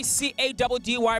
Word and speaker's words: Caddy: It's your boy C-A-D-D-Y, pronounced Caddy, reporting from Cape Town.